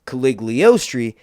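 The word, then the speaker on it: Cagliostro: try to say this, Caligostri. I didn't spell that right, so I'm trying to think of how it's actually pronounced on the TV show, which is Caligostri.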